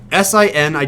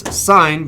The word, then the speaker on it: sin: unit of abbreviations so sini don't pronounce this sin I pronounce this sign because that is what it actually is it's pronounced it's spelled